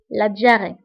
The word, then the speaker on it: diarrhée: فبالنسبة للدياري فتكتب بH ولكن لا ننطقها. la diarrhée.